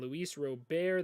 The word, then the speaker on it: Luis Robert: outfield eloy jimenez is in left field and luis robert that is how you pronounce it will be their starting center fielder